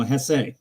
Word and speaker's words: Jesse: first name being Jesse it's you know Hess because I know the J is pronounced with an H sound and D I got